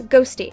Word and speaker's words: Ghosty: video by Spoctor's ex, Ghosty. It's spelled Q-Hosty, but apparently it's pronounced Ghosty, so that's what I'll continue to refer to them as.